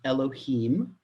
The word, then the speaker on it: Elohim: the attribute of Dean that is Elohim right that's what we say when we print pronouncing it in this context and as in the